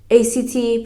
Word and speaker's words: ACT: commitment therapy or act act pronounced like the word Act was developed in the